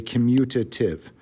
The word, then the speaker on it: commutative: Okay, commutative. A lot of kids suddenly like to pronounce it with a commutative, like they're at an N where there's not an N.